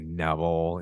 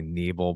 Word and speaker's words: Nebel: Not that many letters, not that hard, but people always say Neville, and it's really Nebel.